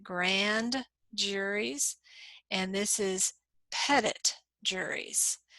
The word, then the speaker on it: petit: juries and this is Pettit juries we don't say petite or petty we say Pettit almost like you're petting an animal Pet it pet the